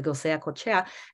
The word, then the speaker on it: Goseacochea: His Basque maternal surname gets spelled differently here and there, but it's the most common way of pronouncing it is Goseacochea.